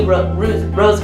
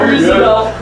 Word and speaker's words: Roosevelt: Roosevelt, No. Roosevelt. I've heard it pronounced in all different ways.